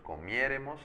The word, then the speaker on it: comiéremos: Esto es igual, si es comer, yo comiere, tú comieres, él comiere, nosotros comiéremos, acento en la E.